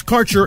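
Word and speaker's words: Kaercher: sponsors your connection to Quality cannabis Insurance Services is spelled k a e r c h e r that's carer insurance we have worked with Ventures like cannabis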